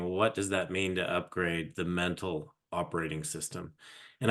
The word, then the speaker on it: UPGRD: simplest way to explain what we do is upgrade so I I I got a register trademark Mark in and you know in in this terminology and what it is is um and it's spelled different it's upgrd and because we believe